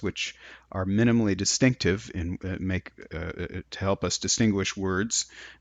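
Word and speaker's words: 马: one here for horse in the kind of prescriptive pronunciation of it it's ma which is what we can call a dipping tone but in fact in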